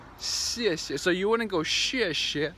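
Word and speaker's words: 谢谢: Just remember, the first step is no, don't pronounce it like a Z. And the second step is, it's not exactly like a, like that either.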